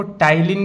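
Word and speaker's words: ptyalin: इसको टाइलीन भी बोलते हैं। पी टी वाई ए एल आई एन पी यहां पे साइलेंट टाइलीन इसका नाम है या सलाइवरी एमाइलेज इसका नाम है।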